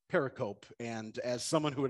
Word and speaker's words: pericope: giving to my classmates now it's pronounced pericope but i pronounced it pericope and as someone who